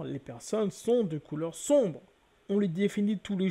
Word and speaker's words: sombre: Et nous avons pris également un autre terme, le terme sombre. Donc le terme sombre s'écrit avec un M, mais se prononce N.